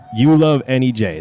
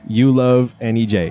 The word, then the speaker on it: YouLoveNEJ: You Love NEJ. That's You Love NEJ. It's exactly how it sounds.